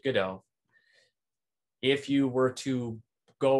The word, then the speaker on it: Godot: game framework called godot the people who develop godot call it pronounce it good o if you were to go watch the play in england they call it they pronounce it gato which is the play